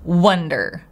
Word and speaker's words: wonder: the purpose of curiosity we use Wonder short neutral uh uh wonder I'm wondering same as in the word wonderful it's not wonderful it's wonderful wonder the next word for